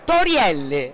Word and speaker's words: Torielli: un panorama e la sfida è riuscire a pronunciare il mio cognome in maniera corretta e miglia quella mio cognome torielli brava brava emilia allora è meglio un festival